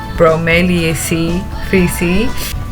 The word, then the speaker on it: Bromeliaceae: Yeah, I looked up how you have to pronounce it. Bromeliaceae 3C.